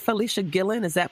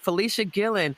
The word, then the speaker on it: Fleshia Gillon: Is that right, Fleshia Gillon? Am I pronouncing it right? Yes, ma'am. All right. Fleshia Gillon, who is a designer, a former fashion student and graduate of Mississippi State University.